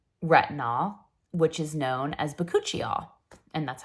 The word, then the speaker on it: bakuchiol: natural form of retinol which is known as bakuchiol and that's how you say it bikol so